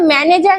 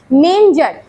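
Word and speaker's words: manger: ডগ ইন মেঞ্জার, মেঞ্জার মানে জানো এটা কিন্তু ম্যানেজার নয়, ম্যাঙ্গার নয়, হ্যাঁ উচ্চারণ হচ্ছে মেঞ্জার।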